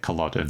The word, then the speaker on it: Culloden: Do we know for sure or is that 80 80 pronunciation? No, that's how you say it. Culloden.